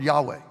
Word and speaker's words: Yahweh: how many of you ever heard the word Yahweh okay so that's the the accurate Hebrew pronunciation of it Jehovah is sort of the